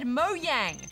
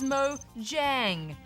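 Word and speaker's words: Mojang: Transformed in the news Goose said moyang when the company's correct name is Mo Jang he can't get away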